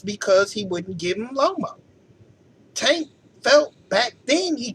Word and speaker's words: Loma: Tank will knock him out, and it's Loma, not Lomo.